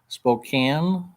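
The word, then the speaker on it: Spokane: uh Nancy just FYI spoke Kean is pronounced with a cane sounding like the word can Spokan you know just like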